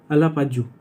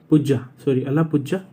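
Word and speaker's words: Alappuzha: कहाँ बन रहा है ये, अलापाजू, अला प्रोनाउंसिएशन पे मत जाना दोस्तों, अलापुझा केरला, एग्जैक्ट है अलापुझा केरला के अंदर लेबर मूवमेंट म्यूजियम बन रहा है, वो भी इंडिया का पहला।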